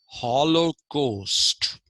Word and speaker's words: holocaust: we pronounce it as holocaust right h-o-l-o-c-a-u-s-d we pronounce it as holocaust but actual pronunciation of this is hollow coast so you find a